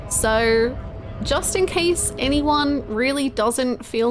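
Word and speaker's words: réal: Is the current name pronounced real? Real. Real is how it's pronounced.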